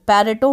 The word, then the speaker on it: Pareto: पहले तो जान यह कि जो पैर टो वर्ड का जो उच्चारण है जो प्रनंसीएशन है कहीं पर इसको पैरेटो बोला जाता कि कहीं पर परेटो बोला जाता और कहीं पर पावर टो भी बोला जाता है तो अलग-अलग तरीके से